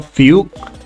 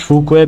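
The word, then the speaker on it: Fu Xuan: Fukqu or Fug. Uh I pronounce Fukqu because uh she's Chinese and I thought that okay, might as well just say in Chinese.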